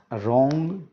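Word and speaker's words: wrong: तो वाटर, रोंग, रोंग RONG, wrinkle RINKLE, whole HOLE, तीनों में साइलेंट है, वाटर में साइलेंट नहीं है।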